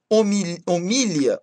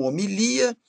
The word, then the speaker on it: homilia: Palavras com dupla prosódia podem ser pronunciadas de dois jeitos, tá, gente? Então temos aí acrobata ou acróbata, homília ou homilia, oceânia ou oceania, ômega